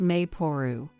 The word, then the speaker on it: Maple: But you know, I saw this name online, written as Maple but pronounced Mayporu.